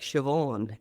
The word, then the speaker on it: Siobhan: And anybody that knows Irish names, it's like phonetically they don't look and sound the same. Right. Absolutely. So it's I'll give you a simple example. It's like Siobhan.